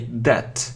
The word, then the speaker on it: debt: It isn't debt, so we don't say debt, we say debt, debt, D-E-B. So how do we spell it? How do we spell that? D-E-B-T, but so we say that.